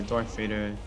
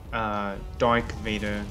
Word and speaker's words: Darth Vader: As a kid, I always pronounce it as Dark Vader, cause I thought that that's how you actually say it.